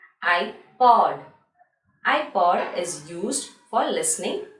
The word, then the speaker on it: iPod: Here iPod we will say I as single alphabet I, and then we will say using the phonic sound P-O-D, pod. iPod.